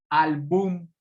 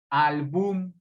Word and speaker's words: álbum: comprobar que sea grave si fuera aguda se pronunciaría al boom álbum no suena bien es grave entonces es álbum si es álbum es